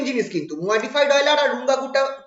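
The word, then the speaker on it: Runge-Kutta: আর রুঙ্গাকুটা four method. ঠিক আছে, এটাকে আমরা অনেকে রাঙ্গকুটা বলে, কিন্তু আমি এতে দেখেছিলাম যে একটা ইন্টারনেটে একটা জায়গায় দেখেছিলাম যে রুঙ্গাকুটা নাকি অ্যাকচুয়াল প্রোনাউন্সিয়েশন।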